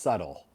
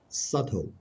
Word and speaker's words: subtle: the B the B the B is silent so it's pronounced subtle subtle right subtle perfect yes